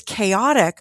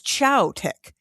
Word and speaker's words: chaotic: and she goes, "Oh, this word is chaotic. I thought it was chowtic."